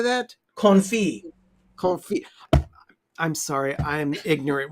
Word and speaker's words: confit: Confit.